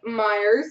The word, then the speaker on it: Myers: premiers for the Flyers Phillipe Myers still my favorite name because it rhymes with flyers rookie for the Rangers